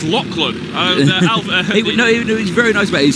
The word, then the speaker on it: Lachlan: Lachlan. I keep saying Lachlan, don't I? That's who we had a gentleman come up saying it's Lachlan.